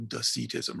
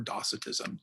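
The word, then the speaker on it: Docetism: is the gnostic uh doctrine of deceitism or docitism depending on how you pronounce it marcin was excommunicated by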